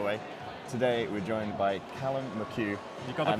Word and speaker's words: Callum McHugh: Today, we're joined by Callum McHugh. You got the pronunciation right.